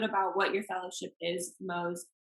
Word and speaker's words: Mohs: So, can you explain a little bit about what your fellowship is, Mohs? Is that how you pronounce it? Mohs? Yeah, Um, Mohs, yeah.